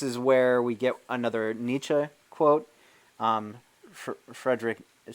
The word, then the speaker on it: Nietzsche: Nietzsche quote Frederick if some people saying Nietzsche but some people say Nietzsche you know it depends the the German it's not an easy word to pronounce but if you sing Nietzsche or Nietzsche as the common American pronunciation is you're fine but I think in the German that's Nietzsche alright the quote is he